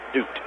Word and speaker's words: Dute: Not Dutt, but Dute. It is Dute.